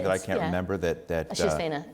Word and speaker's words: Shiv Sena: That I can't remember that Shiv Sena. How do you say it? Shiv Sena.